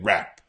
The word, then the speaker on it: wrap: so just be careful this has a silent W here rap you wrap some presents